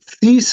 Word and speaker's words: Thies: And I see some guy named, is it Thies? Is that how I pronounce that? Yeah, yes, thank you very much, Barney, and thank you to our judges and thank you to our presenters.